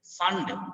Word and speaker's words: Pfund: Lyman series, Balmer series, Paschen series, Brackett series, Fund, PFUND, Fund. P is silent here, don't read P. Fund series and Humphrey series.